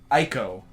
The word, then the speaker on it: Ico: It's Ico. the problem with the Eco.